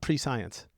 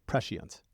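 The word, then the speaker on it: prescience: Yeah, but not pre-science. Precience. Got it. Yeah. Okay. I'll try not to have too much precience then.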